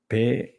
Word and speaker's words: peroxisomes: What is the correct pronunciation of this new word for me? Peroxisomes.